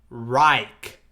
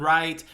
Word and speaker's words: Reich: Bro, Now, so- but so- for those so- who don't know what a third right is, it's pronounced third 3RD Reich RIKE. yes. So it's not third right.